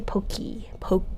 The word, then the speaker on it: Pokémon: that aent igu Pokemon I say pokey poke like Pokey not poke after that commercial too